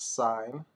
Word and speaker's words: sine: first one is again it's pronounced sine like a stop sign so sine ratio you'll